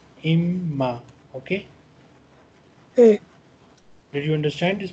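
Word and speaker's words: إمّا: So here on normal occasion we pronounce in, but here we will not pronounce noon because of this shadda. Because of this shadda, this noon spoon will be ignored. It will become imma, imma.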